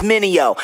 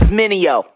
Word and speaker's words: Mineo: Try to say my name, it's Mineo. Say it with me, Mineo.